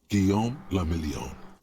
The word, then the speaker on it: Guillaume le Million: Guillaume le Million. Guillaume le Million. If it doesn't rhyme, you're not pronouncing it right.